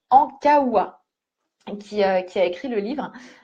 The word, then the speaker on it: Ankaoua: Alors, bien sûr, ce n'est pas Maëlle, même si c'est l'héroïne, c'est bien Maud Ankoua, non, mince, j'ai mal prononcé. Maud Ankaoua, qui a écrit le livre.